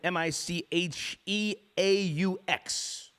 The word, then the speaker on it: Micheaux: How do you pronounce the last name? Micheaux.